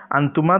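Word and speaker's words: أنتَ: ওকে, আন্তি, এই দেখুন এই আন্তা এবং আন্তি এ দুটো দেখতে একরকম, যেহেতু আমি হরকত দিই নাই, কিন্তু উচ্চারণ কিন্তু মুয়ান্নাসের যেটি সেটির নিচে জের হবে, আন্তি হবে। ওকে, আর মুজাক্কারের যে শব্দটি সেটির শেষে জবর হবে, আন্তা।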